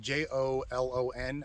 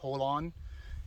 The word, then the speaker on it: Jolon: It's on the reservation or the property, military reservation of Fort Hunter Liggett, near the town of Jolon. I believe it's pronounced Holon.